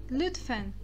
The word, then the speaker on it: lütfen: Falando sobre a pronúncia agora, aqui na palavra lütfen, nós temos o U com tremas, novamente ali na transcrição embaixo para o português, eu coloquei ele como um I e um U, liu, mas vocês não podem